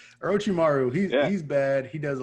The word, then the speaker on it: Orochimaru: me actually say these names correctly but uh ochimara orochimaru he's bad he does a lot of things